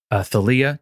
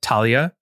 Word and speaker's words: Thalia: of a demigod the daughter of Zeus named Thalia Talia how would you say it how do you